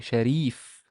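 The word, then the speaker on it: شريف: It's not a fatha here. It's a kasra. So, yeah, it's Sharif. Sharif.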